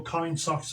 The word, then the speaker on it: KindSox: Just go into Google, Kind Socks. Now, socks is spelled S-O-X, so it's KINDSOX.